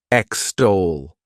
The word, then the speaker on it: extol: is extol to extol this word has two syllables and the stress is on that second syllable extol what it means is